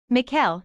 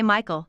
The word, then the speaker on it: Mikhail: what's your middle name Mikhail he says people always mispronounce it and say Michael though gets annoying miles Mikhail Archer I